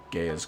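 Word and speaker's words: Gaea: He should at least be at the foot of Gaia's cliff. Some people say Gaia, some people say Gaia, but I guess the AE is pronounced as a Y, so if anything it would be like Gaia.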